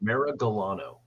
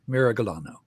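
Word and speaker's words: Miragalano: close mess it up Mira galano it's a hard G Mira galano just like a beautiful Italian the man okay this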